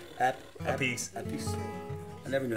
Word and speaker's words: Appice: Appice.